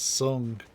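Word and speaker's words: Tseng: Yeah, the official English pronunciation is Sung.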